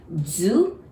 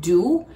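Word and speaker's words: づ: And so as the, Zu, it's really D-U, so it should be like do, but we pronounce it like Z-U, zu.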